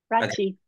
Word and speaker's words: Rathje: Am I pronouncing that correctly, Rathje? Rathje.